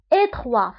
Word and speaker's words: étroit: étroit فبالنسبة لétroit تكتب بالتي ولكن لا ننطقها، نقول étroit بالنسبة للمذكر يعني ضيق.